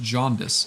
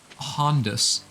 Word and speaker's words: jaundice: pizza 37 was like it's not pronounced jaundice it's pronounced hondas and i was like what that's not true but i also didn't want to tell him that i knew for a fact it wasn't true because you know i